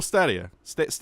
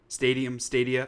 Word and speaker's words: Stadia: Google Stadia. Stadia. Perfect description. I think it's Stadia because it's the of stadium. Stadia. Oh no, maybe it is Stadia. Sure, Stadia.